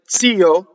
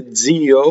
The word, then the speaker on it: zio: So words like zio, the word for uncle, right? That's supposed to be TZ in modern Italian. A lot of people say zio with a DZ.